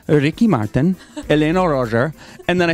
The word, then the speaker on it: Elena Roger: So also in this part of the theater is Elena Rogers' room, who plays our Eva Perón.